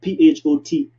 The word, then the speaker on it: Photopea: I got an accent, but to me it's Photopea, right? P like a P, as in peas, singular P.